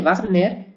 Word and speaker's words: Wagner: alemanes por ejemplo wagneriano de Wagner se escribe con w pero se se pronuncia con b y beares de Bear